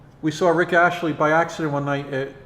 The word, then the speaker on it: Astley: Big Yellow Rebel, I was telling a story how we saw Rick Astley by accident one night at 1018, which was Roxy.